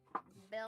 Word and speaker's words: Belle: Belle Belle. Marwood. like the thing that rings and makes a lot of sound. Yeah, but you add an extra E to the end.